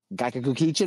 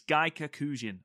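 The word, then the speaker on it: gaikokujin: let me see if I'm saying this right, Gaikaku Kichin month? Did I get that right? Do you know what? If you put enough syllables into it, Matt, it sounds right anyway. So, yeah, it's Gaikakujin month.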